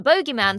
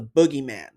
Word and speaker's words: boogeyman: Space Babies that the Bogeyman stalking the corridors of the B. Also, sorry, but I'm American and we pronounce bogeies as boogies. It's not the bo not the bogey man. It's the boogeyman.